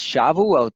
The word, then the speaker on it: Shavuot: Sabbath's plural so it's important to see it's Shavuot their feast of weeks of the firstfruits of